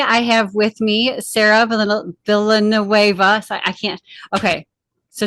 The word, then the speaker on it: Villanueva: So today I have with me Sarah Villanueva. So I can't. Okay. So today we have Sarah Villanueva. Villanueva.